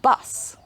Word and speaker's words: bus: two words buzz and bus are different at the end sound so buzz has the z sound at the end and bus has this sound at the end one of these sounds is